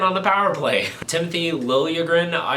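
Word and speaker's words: Liljegren: play Timothy lilagan I I know the Vegas broadcast kept saying lren which if that's what he actually wants to be called great I that that's easier to pronounce but in all of the Toronto stuff that I've been watching in The Last 5 Years it's Lila grin but Dave and Shane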